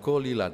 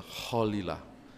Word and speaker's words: Kholilah: Bukan Kolila ternyata, Kholilah. Baru tahu saya cara membacanya.